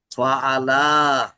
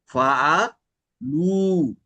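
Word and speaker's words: فعلوا: আর আলিফটা কিন্তু আমরা ওটা বলছিলাম, এই যে আলিফটা, এটা কিন্তু হচ্ছে এটা কোনো উচ্চারণ হবে না, কিন্তু এটা থাকে, এটাকে কিন্তু আলিফ অফ কি যেন বলছিলাম, দীপু থাকলে বলতে ভালো হইতো।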